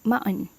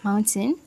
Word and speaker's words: mountain: Americans usually pronounce mountain as mountain, with the t sometimes slightly softened but still present, with the t often unreleased or very light.